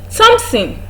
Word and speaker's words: Thompson: The next one is Thompson. Thompson, not Thompson. Thompson, despite the fact that it has a th in its spelling, or it has th in its spelling, it is pronounced as t.